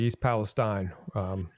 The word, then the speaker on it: East Palestine: It's East Palestine. You see, it's actually since I lived in that area for quite a while. It's actually East Palestine. That's the way it's pronounced by the locals.